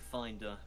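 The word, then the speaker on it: Findr: nearest sieve I said finder it's about 15 meters foreign ER but it's spelled f-i-n-d-r because it's like grinder for kitchen implements yeah oh yeah The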